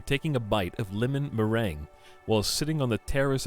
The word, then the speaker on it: meringue: because it's cookies normally it looks like marangu is that how you say it is it that easy just marangu meringue the hell is it